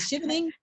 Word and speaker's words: Chevening: Did I pronounce that right? I don't even know. Is it Chevening?